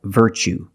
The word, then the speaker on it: virtue: word what's the pronunciation you see t-u-e as the second syllable so the t is pronounced like chicken so what's the pronunciation that's right virtue what is a virtue